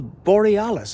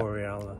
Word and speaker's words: Borealis: The Northern Lights, the Aurora Borealis. I've said that wrong. I'm very bad at pronouncing Aurora words like that. Borealis. Oh, well done, Paul.